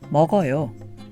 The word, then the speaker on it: 먹어요: Add 요 to this and we have 먹어요, which is pronounced 먹어요.